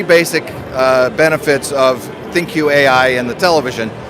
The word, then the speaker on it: ThinQ: You said it right, ThinQ.